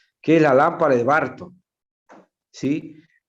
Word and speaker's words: Burton: es la lámpara de Barton, ¿sí? Se escribe Burton, pero se pronuncia Barton, ¿sí? Con B larga, ¿sí?